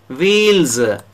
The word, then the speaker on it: wheels: Wheels, S is pronounced as Z. Rails, S is pronounced as Z.